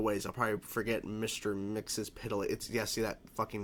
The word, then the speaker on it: Mxyzptlk: So first of all, I'm probably not going to be able to pronounce his name correctly, so I listened to it just now. Mr. Mxyzptlk. I know people always mispronounce that fucking name of this character, but I'll just say Mixie or whatever they said, or whatever.